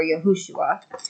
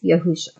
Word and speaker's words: Yahusha: came into the truth I wasn't completely sure whether it was yahusha or yahushua and um end time Watchmen had helped me to figure out that the correct uh pronunciation was yahusha um 20 26 times